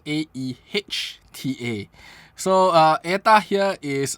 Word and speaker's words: Aehta: the AA and uh it's pronounced as AE H ta so uh AA here